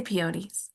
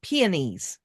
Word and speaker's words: peonies: I say peonies or pianies.